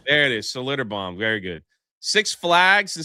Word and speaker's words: Schlitterbahn: This water park that I can't even pronounce its name. I don't know. Uh in in Texas Schlitterbahn There it is, Schlitterbahn, very good.